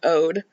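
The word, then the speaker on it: O.de: his name, it's just ode like the English word like ode to droy. Um, it's not OD or anything like that.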